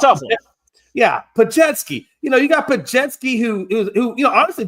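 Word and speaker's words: Podziemski: Thank you, Pajetsky. I can never say those names correctly. So it's a tough one. Yeah, Pajetsky.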